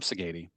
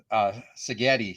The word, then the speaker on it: Sagady: For those of you who don't know, this is Sagady. He And am I am I pronouncing your last name right? Exactly, 100%. Although half my family relatives they pronounce it Sagady, so Go figure.